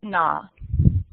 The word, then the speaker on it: Noo: where you can learn the correct pronunciation of her name, which is Noo.